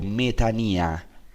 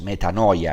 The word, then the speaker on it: metanoia: Esta inclinación se llama en griego metanía. Es interesante porque metanía en griego es lo que en nuestra pronunciación llamamos metanoia, es lo mismo.